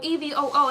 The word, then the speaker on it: EVOO: Oh, EVOO, that's how you pronounce it?